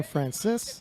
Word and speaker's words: Frances: now for alberto frances i'm hearing robert keller pronounced his name francis five-kilo off of his